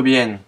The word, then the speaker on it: bien: B et V se prononcent de la même façon, l'espagnol ne faisant pratiquement pas de différence entre ces deux lettres.